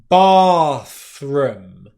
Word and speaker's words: bathroom: Well, what happens is when they're split over two syllables, you're going to find that you're going to have less pronunciation of the th when it's coming at the end, and more pronunciation of the R sound.